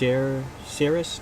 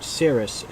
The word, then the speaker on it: Cerys: think we went with, I think it's pronounced Cerys, not to be confused with Ciri, but Cerys, C-E-R-Y-S.